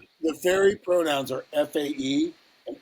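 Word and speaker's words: fae: and are pronounced with an f sound replacing the the th sound and they them.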